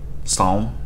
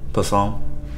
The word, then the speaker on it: Psalm: Psalm? Is the P silent? Psalm?